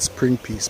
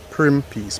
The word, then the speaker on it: Prim Piece: Persons pronounce it Spring Piece, but the correct spelling on the 1804 map is actually Prim Piece, P-R-I-M.